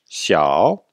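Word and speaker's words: 小: prononciation vous savez que le x se prononce avec le dos de la langue xiao et le ming c'est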